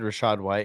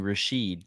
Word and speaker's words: Rachaad: Yeah, you said Rachaad White. It's better than Trent saying Rashid.